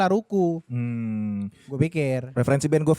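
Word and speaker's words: L'Arc~en~Ciel: Ada Lark and Seal melodic metal Mas. Enggak bukan. Ah. Band tapi Jepang. kenapa dibacanya Laruku?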